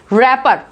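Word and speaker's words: wrapper: यहाँ पे क्या है, W is silent is this word and we pronounce it एज रैपर, रैपर।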